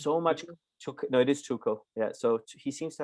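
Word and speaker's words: Tuchel: to have i mean uh what's his name tuko as uh his is how you pronounce his name seems to have two shoes so much no it is choco yeah so he seems to have all this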